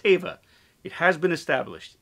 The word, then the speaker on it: Teva: that my character Carson Teva and it is pronounced Teva it has been established it's pronounced Teva um in episode 12 entitled The Passenger uh